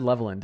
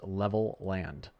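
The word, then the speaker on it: Levelland: I said Levand in my last uh in my last stream and someone said no, it's literally pronounced Level Land and I said I cannot believe that that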